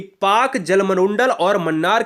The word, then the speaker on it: Palk: वाला नहीं है, यह पाक जलसंधि PALK को हम पाक कहते हैं। ठीक है ना, इसमें यल साइलेंट होता है।